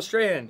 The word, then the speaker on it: Strahan: Michael Strahan. There you go. What did I say yesterday? Strong or something?